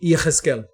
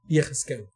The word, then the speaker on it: Yehezkel: Que o nome do personagem não é Ezequiel, mas sim Yehezkel. Esse é o nome dele, Yehezkel.